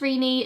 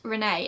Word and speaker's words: Renee: Yes, it's definitely pronounced Rene, short for Christina, and it's not Renee.